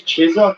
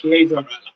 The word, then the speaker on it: Chiesa: I thought it was Chiesa, but it's Chiesa. They pronounced it.